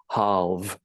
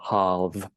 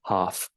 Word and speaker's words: halve: be quite useful, which is halve, and you need to use your voice for that final V sound, halve, not half.